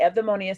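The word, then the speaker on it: Eudaimonia: So it's the Evdaimonia Center. It looks like EU, but that U is pronounced like a V. Ev, DAI, soft, like the TH, soft D, and Monia.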